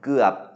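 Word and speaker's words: เกือบ: rising tone there then gap which is a low tone because of the stop final that means almost done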